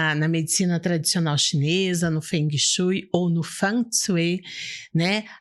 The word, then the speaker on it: Feng Shui: Se fala Feng Shui. Feng Shui. Essa é a pronúncia mais ou menos correta, né?